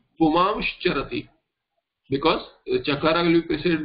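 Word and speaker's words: पुमांश्चरति: If you see puman charati, it will become pumamsh charati, because chakara will be preceded by an anuswara or an anunasika and a shankar shakara.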